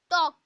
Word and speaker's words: talk: Look at the word talk. Here here L is silent.